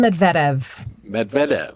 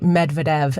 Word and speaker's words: Medvedev: My name is Medvedev. Medvedev, yes. Okay, there's an emphasis on that second syllable. Exactly, Medvedev. Plenty of people say Medvedev, and that is also fine. Any version of that is perfectly acceptable.